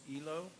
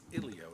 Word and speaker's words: Elio: Make-up movie night in the park featuring Pixar's Elio. I think it's Ilio, is how you say it.